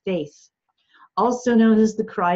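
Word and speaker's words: Fáeth Fiada: there is called the faith Fionna it is true irony that the first word is pronounced faith also known as the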